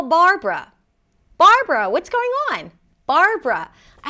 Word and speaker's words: Barbara: This name has two syllables. The first syllable is bar. Bar. Start with a B sound. Close your lips. Bar. And then make sure that you don't lift the tongue up too soon. Again, not burbbrra, but bar.